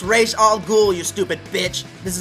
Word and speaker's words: Ra's al Ghul: Now, am I pronouncing this right? Mr. Ra's al Ghul? No, it's Ra's al Ghul, you stupid bitch.